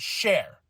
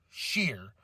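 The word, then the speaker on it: Sher: Indus Sheer, not Share, Sheer.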